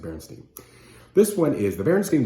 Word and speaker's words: Berenstain: It looks like it's spelled Berenstain, but I think you pronounce it Berenstain.